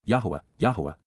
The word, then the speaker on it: Yahowah: They will revere, Pakad, they will show profound respect for the awe-inspiring nature of, Kal perfect, Yahowah, an accurate pronunciation of God's personal and proper name as